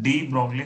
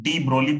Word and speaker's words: de Broglie: ठीक है, वैसे जो जी है वो साइलेंट होता है, डी ब्रोली बोलते हैं। ठीक है, बहुत जगह पे जो स्टैंडर्ड है, और हमारे यहाँ पे सब चलता है। तो ब्रोगली बोलो ब्रोली बोलो सब सेम है।